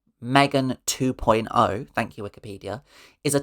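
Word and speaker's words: M3GAN 2.0: Megan 2.0, pronounced Megan 2.0.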